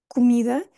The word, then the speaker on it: comida: português é cu comida E em português nós vamos focar no mi é a sílaba tónica que eu chamo de rainha tenho outros vídeos sobre isto e é aqui que nós vamos focar a nossa atenção então é tudo vai convergir para mim comida comida comem comem este